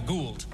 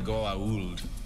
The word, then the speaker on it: Goa'uld: I was like, well, I called them the Gould, but they were like the Goa'uld.